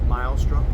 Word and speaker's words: Meilstrup: Meilstrup.